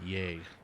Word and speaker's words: yea: Well, YEA in ye old Shakespearean times is pronounced yay, and you know, as in like yea verily.